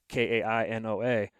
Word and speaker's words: Kainoa: Kainoa. How do you spell that? And then they'll go to read it back to me, and they butcher it. Yeah. Like bad. And I'm like, well, Kai, Kai, Noah.